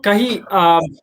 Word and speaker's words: Kahee: So Kahi, I'm pronouncing it right, okay?